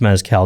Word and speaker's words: mezcal: I believe it's mezcal, now that I'm going to be nervous about pronunciation.